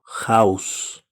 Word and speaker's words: house: House en este sustantivo podemos pensar que la H es muda House Al momento de pronunciarla tiene un sonido consonántico House Entonces lo acompaña el